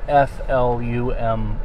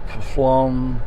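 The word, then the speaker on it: Pflumm: at it spelled p f l u m m I believe and people look at it and go flum what plum how do you say that pufflum now it's flum the p is silent and it's also I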